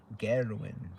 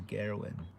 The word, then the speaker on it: Garwin: I do know Gerwin actually. Yeah, actually I say his name wrong. I should say it right. Garwin. His name is Garwin.